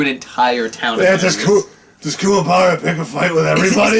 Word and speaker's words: Kuwabara: For Kuwabara, you gotta roll the R.